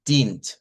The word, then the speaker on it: dient: y luego diríamos dient, aquí una I larga en este diptongo, y luego la NT como tal, dient.